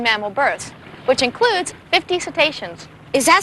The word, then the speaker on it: cetaceans: And since then, the parks have had over 150 successful marine mammal births, which includes 50 cetaceans. Is that spelled like railroad stations?